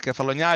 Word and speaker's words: Cephalonia: Cephalonia. Okay, I got it. Okay. Now, there's a cluster of 12 islands between Greece and Italy in the Ionian Sea. And Kefalonia is the biggest of those islands.